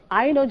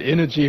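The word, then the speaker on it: Innogy: the firm is called Ino if I'm correct tell us more about this firm and how the IPO went today yeah uh I I would pronounce it energy but uh we're talking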